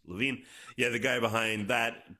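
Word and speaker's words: Levine: This guy's last name is pronounced Lavine.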